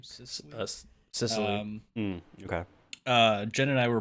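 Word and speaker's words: Cecily: Cicely.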